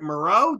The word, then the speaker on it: Mureau: band I hope I'm gonna say it right Maro did I get it right yeah well allegedly